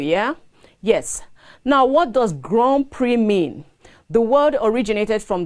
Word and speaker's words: Grand Prix: Grand Prix is spelled G-R-A-N-D space P-I-R-X. So please note, the pronunciation is Grand Prix, not Grand Prix.